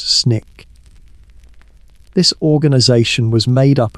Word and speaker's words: SNCC: student nonviolent coordinating committee SNCC's pronounced snick.